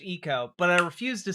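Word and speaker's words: Ico: Also, I do know that the name of the video game IO is supposed to be pronounced Eco, but I refuse to say it right on principle.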